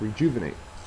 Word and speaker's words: rejuvenate: Next, we have rejuvenate. Rejuvenate is a verb. Uh the second syllable is accented and it means to make young again or to make like new.